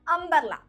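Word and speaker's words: umbrella: നോക്കാം അല്ലെ എക്സാമ്പിൾ ആണ് അംബ്രല്ല അംബ്രല്ലയുടെ സ്പെല്ലിങ് എന്താ യു എം ബി ആർ ഇ എൽ എൽ എ നമ്മൾ എങ്ങനെ പറയുന്നത് അംബ്രല്ല എന്നല്ലേ പറയുന്നത് യു എന്നുള്ള ലെറ്റർ ആണെങ്കിലും അവിടെ ഉച്ചാരണം വരുന്നത് ആ ആയിട്ടാണ് സോ അതുകൊണ്ടാണ് നമ്മൾ അംബ്രല്ല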